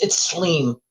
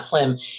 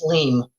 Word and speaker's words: Slim: Oh, it's Sleem. Sorry, it's not Slim. It's Sleem. It's pronounced Sleem.